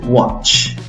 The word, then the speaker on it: watch: Se escribe con A, puedes pronunciarla con una A fuerte o con una O también, no solo con la A. Entonces pronuncias la palabra watch. Watch, con A o si no con O.